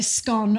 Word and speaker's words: scone: debate of course is whether you say scone or scone and that's the other